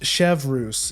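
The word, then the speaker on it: Chevreuse: Chevrus, pronounced Chevrus. Yeah, okay. So that one's fairly intuitive because it looks more, because it's like a French name.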